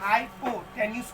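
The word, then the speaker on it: hypotenuse: Pronunciation कैसे कहते हैं, देखिए सर HYPOTNUS है, हाइपो क्या पढ़ता है, हाइपोटेन्यूस पढ़ते हैं।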